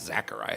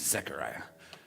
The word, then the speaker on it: Zechariah: He's like, Jeff, it's not Zechariah, it's an E. It's Zechariah.